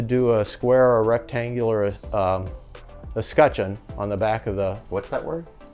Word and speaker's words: escutcheon: Do you know how to spell that? E-S-C-U-T, escutcheon, C-H-E-O-N.